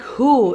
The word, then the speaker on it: who: So the W is silent. Like you don't say the W in who is silent. You don't say woohoo.